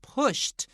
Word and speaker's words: pushed: own.OK, 所以在这边呢，他学会了骑脚踏车的那个日子，对不对？在这个 in the park 地点是什么？是在公园里面。His father patiently pushed his bike from behind.